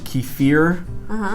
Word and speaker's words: kefir: Americans apparently say kefir or kefir, but apparently it's Russian, and they pronounce it kefir.